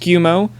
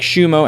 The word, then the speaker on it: Schiumo: It's officially pronounced Schiumo, unlike Schiumo as he goes by, and it's Schiumo Jr.